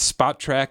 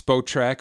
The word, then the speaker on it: Spotrac: hit a radio show so it's spot track according to us it's spo track or sport track or sports track or whatever